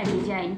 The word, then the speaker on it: design: जी के बाद क्या है, जी के बाद एन है, जी के बाद एन है, तो जी को नहीं पढ़ा जाएगा, साइलेंट रखेंगे। तो क्या बन गया, डिजाइन।